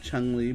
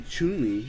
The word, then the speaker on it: Chun-Li: Yeah, I think I've heard people say it that way. Actually, everyone's been saying it wrong because it's actually Chun-Li.